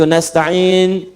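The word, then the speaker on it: نَسْتَعِين: Yang kedua itu nasta'in dibacanya menggunakan fathah, ujungnya sukun.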